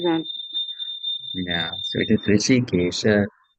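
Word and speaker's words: हृषीकेश: It's not R with the dot below only. Then it is Rishikesha. There's H also before that. So it's Rishikesha.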